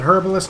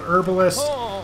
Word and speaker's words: herbalist: And yes, I said herbalist, not herbalist. I've got little pieces of South African pronunciation of things in my mind.